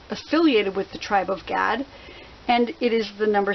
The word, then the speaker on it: Gad: That's G-A-D. A lot of people in Hebrew it's pronounced God, but since it sounds so much like the word God, I try to pronounce it Gad so people know.